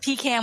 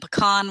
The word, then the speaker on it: pecan: my grandfather would say we pronounce them however the buyer wants us to pronounce them pecan when we pick them and pecan when we sell them they're delicious they're america's